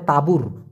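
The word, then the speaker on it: tabur: কি হবে সেটা হবে তাবুর তা বুর উচ্চারণটা হবে ত আকার বৈরশু র তাবুর মানে সার যেমন তাবুর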